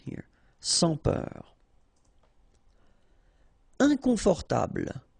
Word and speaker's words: inconfortable: Inconfortable. Okay, don't pronounce final E. Table. Inconfortable.